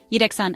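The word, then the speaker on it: yhdeksän: Udan Yan means nine say a long oo then Dex like before and a soft an Yan a cat has nine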